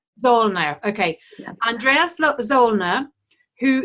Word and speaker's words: Zoellner: I'll have you please pronounce the surname. I bet you get this all the time. Yes, no problem. Zollner. Zollner.